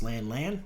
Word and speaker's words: Lan: For example, Daniel Haney doesn't pronounce lan, he pronounces it lawn.